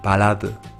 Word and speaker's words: 발라드: Pero en caso de terminar en esta letra o haber dos, se pronunciará como L. Cuando hablo de haber dos, por ejemplo, es balad, que significa balada.